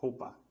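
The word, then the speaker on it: roupa: to talk about clothes pronounced in portuguese as hopa remember the r is like an h sound so it's not an actual r sound like english so let's get to it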